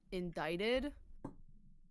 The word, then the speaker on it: indicted: I was watching, but they used the word indicted and I don't Oh, like that word. really? No, because it's spelled indicted.